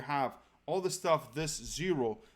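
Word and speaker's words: Xero: zero a Amazon 2x which is 0 0 spelled with X naught 0 like Z ok so a 2x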